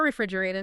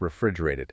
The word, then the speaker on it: refrigerated: Yeah, I guess they are refrigerated. Exactly. It's all kept refrigerated. Ah. And Vanessa had another great pronunciation tip for refrigerated. That final T often sounds more like a D in American English.